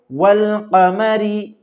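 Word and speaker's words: والقمر: कमरी कहा जाता है अगर अलिफ लाम आए तो सिर्फ लाम को पढ़ा जाएगा अलिफ को पढ़ा नहीं जाएगा जब इनको इनसे पहले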